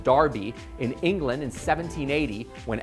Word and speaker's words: Derby: This dates back to the original Derby, pronounced Derby, in England in 1780,